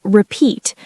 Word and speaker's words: repeat: Sorry, could you repeat that? Pronunciation tip for today. The word repeat, 2 syllables. Repeat. Stress on the second syllable, not repeat. It's repeat. Repeat.